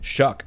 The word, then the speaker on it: Shough: Shuck, like Shuck an oyster.